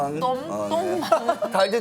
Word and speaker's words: Tom: Oh, Tong... Not "Tong"! Tom! Tong Mang...